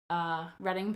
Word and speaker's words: Reading: It's Reading, not reading. So many people say reading, and I'm like, oh. You say Reading, and I think Reading, California. Well, there is a Reading, California, but they spell it differently. Oh. So it's spelled... So it's spelled like reading, R-E-A-D?